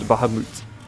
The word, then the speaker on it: Bahamut: And it is pronounced Bahamut, not Mutt.